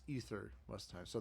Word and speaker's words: aether: No, it's ether actually. In most people mispronounce it as aether, but it's ether most of the time.